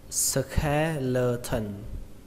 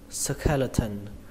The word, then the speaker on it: skeleton: bộ xương thì các bạn đọc là skeleton, skeleton. Trọng âm của từ này rơi vào âm đầu tiên, đó là âm khè, âm khè trong từ khe suối, skeleton.